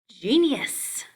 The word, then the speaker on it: genius: Genius. J, genius.